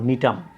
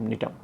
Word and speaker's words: Gnetum: উদ্ভিদটা, সেটা হচ্ছে তোমার নিটাম। নিটাম শব্দটা কিন্তু প্রথমে জি আছে, GNETUM, নিটাম।